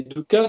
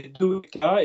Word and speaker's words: dukkha: Et dukkha, c'est deux syllabes, c'est dukkha, et ka, c'est l'espace.